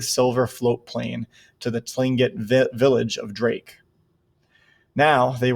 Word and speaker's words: Tlingit: was a tlingit indian pronouncing tlingit proudly with a clicking of his tongue as if he was saying clink it he was built like